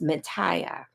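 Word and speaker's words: Mathia: she loved her name her name was spelled like mine m a t h i a and pronounced Matia so my name is actually supposed to be pronounced Matia but we're rednecks so they just called me MAA because it was easier so anyway guys that's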